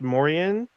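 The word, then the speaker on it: Moriaen: spell the name name it's m-o-r-i-a-e-n i believe it's pronounced mauryan this is about a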